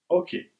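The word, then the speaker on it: oche: Major tournaments, however, are played with a hoke, also spelled O C H E, and pronounced ok, which is a thin raised strip of wood approximately 40 cm in length and 4 cm in height.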